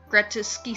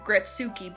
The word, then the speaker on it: Gretuski: So yeah, thank you, Gretuski Studios. I keep wanting to call you Gretsuki, but nope, that's not how it's spelt.